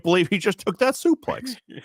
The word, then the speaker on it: suplex: I can't believe he just took that suplex. Suplex. My goodness. You're not saying it right. It's sup play.